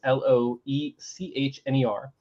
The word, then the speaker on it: Loechner: So Tyler Lochner, I don't know if that's how you say his name. Excuse me if I'm missaying. It's Loechner. He pulled out some stats from 2017.